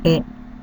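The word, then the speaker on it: へ: teach you Japanese for the next particle is a please note is pronounced as a when it is used as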